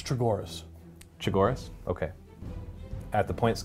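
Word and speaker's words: Chogoris: It's Chagoras.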